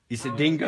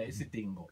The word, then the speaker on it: Isidingo: Isidingo. Isidingo. Thank you, thank you. I just can't pronounce it. Yeah, Isidingo. Isidingo. Yeah, Isidingo. I think of the dog with dingo.